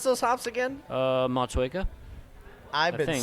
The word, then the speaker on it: Motueka: Pronounce those hops again? Motueka.